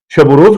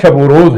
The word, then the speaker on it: شب و روز: بھی ایک نکتہ تھا کہ بعض لوگ عربی طرز پہ شب و روز، دین و دنیا، تو یہ پڑھنا جو ہے یہ غلط ہے۔ دین و دنیا نہیں